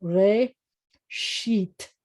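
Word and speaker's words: ראשית: Remember the Aleph here is part of the vowel of this vowel, re, sheet.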